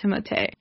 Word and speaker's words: Timothée: I just want people to pronounce it Timothée because I took French and that's what I see every time I see it.